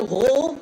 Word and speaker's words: Rohr: The name on it is Martina Rohr. That's R-O-H-R. If my A-level German is still functioning, I think that pronunciation is correct.